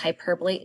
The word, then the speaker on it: hyperbole: the next term is hyperbole h-y-p-e-r-b-o pronounced hyperbole this is an extreme